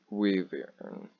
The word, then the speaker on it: wyvern: It'd be more of a wyvern, W-Y-V-E-R-N, since I can't actually pronounce that.